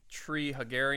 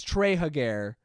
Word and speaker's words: Treehugger: we have met Alexander treehugger Ian what is it tree hugger tree hugger it's trey hug air people often mispronounced it Trey hug air Trey hug air and like alex